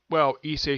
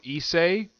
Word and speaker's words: Issei: I call him Issei because that is how they pronounce his name in the English dub, so that is why I'm calling him that.